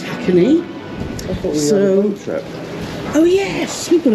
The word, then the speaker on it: Hakone: now to our hotel in HCK it is pronounced hacky trip oh yes we've got a boat trip